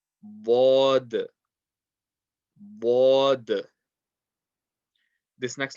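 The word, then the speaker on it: ض: The next letter, tongue is side of the tongue touching the side of the back teeth. Bod. Bod.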